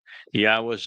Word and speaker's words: Yahweh: Yahweh is the proper pronunciation of the name of our Elawa, God, as directed by his Torah teaching regarding his higher existence and our shalom restoration.